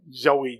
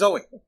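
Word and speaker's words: Zooey: and not an early zoe de chanel movie yeah i'm not gonna forgive you for that no he literally made that mistake i told him no it's zoey i just got the name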